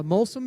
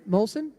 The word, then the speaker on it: Molson: also I've drank me a Molen beer right molsen that's it what lucky what is